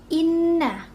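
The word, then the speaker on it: إن: Inna. Di sini ada gunnah. Kenapa gunnah? Karena di sini huruf nunnya itu bertasydid, sehingga dibacanya itu dengung dengan ditahan 2 harokat.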